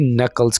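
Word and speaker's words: knuckles: है क्रैकिंग दी नकल्स यहां पर के जो अल्फाबेट है इसको हम साइलेंट रखेंगे क्रैकिंग द नकल्स उंगलियां चटकाना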